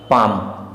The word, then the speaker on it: पाम: Next word हमारे पास दिया हुआ है पाम, इसे हम पाल्म नहीं पाम पढ़ते हैं।